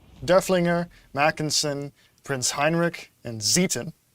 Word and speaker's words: Zieten: Not Zeiten, Zieten. That's how they pronounce it. Yes, because basically the trick in German is that if the E follows the I, it's E. If the I follows the E, it's I in the pronunciation.